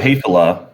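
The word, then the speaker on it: Häfele: So fele, pronounced fele. A lot of people get it wrong. I always just say it's like saying hey fella.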